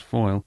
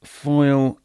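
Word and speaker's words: Fáil: was called Leah foil it's spelled f-a-i-l but I think it's pronounced foil it is intrinsically linked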